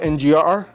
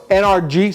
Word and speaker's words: NRG: figured I'd go with the whole kit with ngrr or NRG sorry I keep I keep messing up the the pronunciation so this is the Hub right here